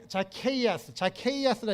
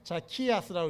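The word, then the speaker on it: Zacchaeus: 자케이아스라 읽어도 되고 자키아스라고 읽어도 돼요.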